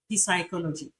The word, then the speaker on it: psychology: take note of this the S is silent in Psychology and raspberry raspberry can you see that you can't say psychology psychology what do you say you say psychology we have other words